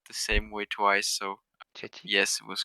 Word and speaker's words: Chechik: Is it pronounced right that way, Lucas? Tristan? You just said it the same way twice, so Chechik? yes, it was correct. Chechik, Okay.